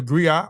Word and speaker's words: griot: The griot or jelly professional encompass many roles. The griot or the griotis, pronounced griot or grioti, have been referred to